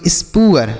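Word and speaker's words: spoor: तो इसे हम पढ़ेंगे स्पअर।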